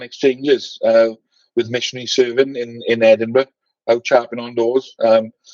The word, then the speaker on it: Edinburgh: was to teach everyone the correct way to say Edinburgh. He didn't want missionaries to say like Barrow. It was like, no, you have to say Edinburgh. It's like bread and butter.